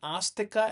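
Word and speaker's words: āstika: Notice the A is with a roof on Astika and Nastika. So, it's actually pronounced as a double A.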